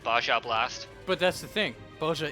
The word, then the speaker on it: Baja Blast: He said Baja Blast. But that's the thing. Boja is a place in Final Fantasy XIV, so it's appropriate. Yes, I am aware it's supposed to be pronounced Baja Blast.